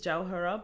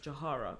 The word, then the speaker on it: Jawhara: Like my name is Jawhara, but throughout my whole school life, I've been referred to as Jawhara because they can't pronounce my name. My whole name, no one has ever been able to pronounce it. They struggle with that W so bad. They just decided to cut it out completely.